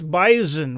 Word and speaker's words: bison: it's not no it's bisen with a z sound absolutely and then you